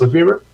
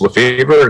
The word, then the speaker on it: Lefevre: So with that, Dennis Lefebvre.